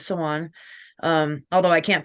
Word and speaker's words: Samhain: For Sawan, which other people call Samhain, the proper terminology is Sawan.